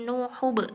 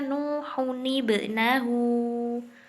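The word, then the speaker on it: نُوحٌ ٱبْنَهُۥ: Ya, kalau kita nggak terbiasa pakai Al-Quran Utsmani, pasti bacanya jadi nuhub ya. Padahal bukan, bacanya harusnya nuhunibnahu.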